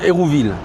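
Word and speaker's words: Hérouxville: Ça s'écrit Houxville, mais on dit Hérouville.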